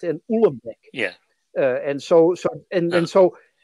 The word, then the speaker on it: Uhlenbeck: Goudsmit and Uhlenbeck.